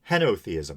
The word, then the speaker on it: henotheism: was mostly right, but my pronunciation was wrong. Henotheism. Henotheism. I said henotheism.